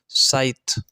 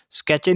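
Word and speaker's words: scythe: उस सैची की आवाज़ की वजह से, साइथ की प्रोनाउंसिएशन थोड़ी सी मुश्किल है इसकी, लेकिन याद रखना साइथ, ठीक है, साइथ की आवाज़। स्केचे नहीं पढ़ना इसको, साइथ पढ़ना है, सी हटा देना, साइथ की आवाज़।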